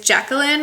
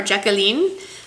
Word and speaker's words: Jacqueline: shade of the bunch is Jacqueline or jacalene a lot of these have a French uh twist to them so we'll go with the French pronunciation jacalene and it's a creamy